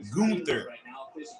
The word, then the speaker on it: Gunther: started all right so pardon me john it's pronounced gunther and it is pronounced you know what you